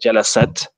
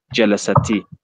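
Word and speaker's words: جلست: What it's trying to indicate here is that instead of pronouncing it with a sukoon, saying jalasat, we now pronounce it with a kasra, and we say jalasati, which becomes jalasati talibatu.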